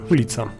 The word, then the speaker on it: ulica: In Poland you will often see the abbreviation ul with dot at the end, but we always pronounce it in full form ulica, and ul without dot at the end it's hive.